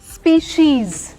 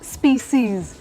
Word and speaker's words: species: स्पीशीज, इट्स नॉट स्पीसीज। ना ना, American भी नहीं है। ब्रिटिश अमेरिकन दोनों प्रोनाउंसिएशन इज स्पीशीज, यानी कि तन्नू जीत गई।